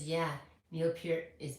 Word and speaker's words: Peart: Sierra says, yeah, Neil Peart is mispronounced the most. Neil Peart, yeah. Eart. You know, I was told in radio, and then I forgot about it. Everyone said Peart. Yeah, Pert.